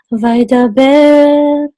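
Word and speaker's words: וַיְדַבֵּר: So Vaidaber with Mercha says Vaidaber. So the trope mark tells you the melody as well as the accent for the word. So the accent is on the last syllable because that's where the Mercha is, okay?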